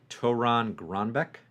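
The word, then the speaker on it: Torunn Grønbekk: I'm seeing here uh Toran gronbeck is how it's pronounced the writer of Realm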